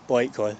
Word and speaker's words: Blackley: But we're near Blackley, I say, Blakely, it's spelt.